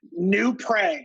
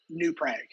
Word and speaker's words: New Prague: Prague or Prague? New Prague. I don't know why they say it wrong. They say it wrong. New Prague.